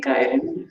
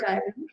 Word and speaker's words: Kieren: But beautiful name, Kieren, first of all. And I'm saying Kieren again and again so that everyone pronounces it correctly.